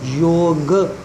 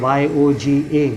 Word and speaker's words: yoga: And the sadhu must have said, yog, to make him understand. So he understood in a way which he went and wrote it down. He understood it as yoga. So he went and wrote Y-O-G-A, yoga, and now all of us have been